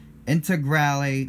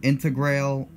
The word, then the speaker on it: Integrale: a rally car and I think that's how you pronounce that I word after how I've read it on the pronunciation websites I do believe that I nailed that one finally I think I said something along the lines of intégrale in the past but I can't be too sure here's one that I